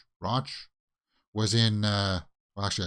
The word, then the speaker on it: Rauch: Rauch was in, well, actually, I should probably have watched the clip to see how she pronounces her name. Roach.